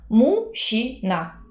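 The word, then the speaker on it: мужчина: Uomo in russo è muscina, scritto muscina, letto, pronunciato muscina, non juc, ma sh. Mushina.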